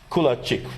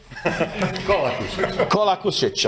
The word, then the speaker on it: Kolakušić: And another colleague from Croatia, Kulačić, right? Do I pronounce it correct? Right now, not. Kolakušić, I know it's tough with all these names.